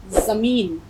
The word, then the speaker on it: زمین: پھل پیدا ہوتے ہیں۔ اب دیکھیے زمین، یہ آپ کی آئی زمین، آپ اس کو جمین نہیں پڑھیں گے، زڈ کی آواز نکالیں گے، زمین۔ تو بارش کے پانی